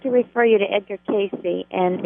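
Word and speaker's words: Cayce: I would like to refer you to Edgar Casey and it's spelled c a yce and I've had that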